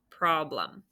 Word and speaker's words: problem: i can say it that e is that makes the schwa sound problem okay one more for